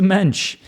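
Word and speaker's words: mensch: And he is, for lack of a better word, he's a mench. And I think that I think that's going to be in a hurray for Yiddish. Mench rhymes with bench.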